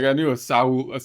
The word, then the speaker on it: Saul: Now, did Saul? I always say it like I knew a Saul. I always say it's Saul, but for some that's Spanish, right? Saul.